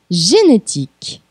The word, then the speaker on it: génétique: G comme génétique. Aqui vamos com a nossa segunda dica de pronúncia. O E final é mudo.